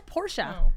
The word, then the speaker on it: Porsche: wrong all the time apparently it's porsche porsche no it's porsche i say porsche my whole life it's porsche i think i heard him say no it's porsha yeah we're saying it wrong anyway that's why he